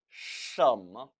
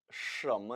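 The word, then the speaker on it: 什么: 什么, 什么, 神 그리고 뭐, 뭐 경성 처리해야겠죠.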